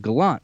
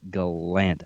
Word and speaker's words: Gallant: reporters asked him about his name and the pronunciation of his name because a lot of people have been calling him gerard gallant for so long and he said in fact it's gallant i guess were you shocked by that at